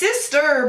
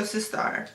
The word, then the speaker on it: Sistar: It's Sistar, but with an A. So Sistar.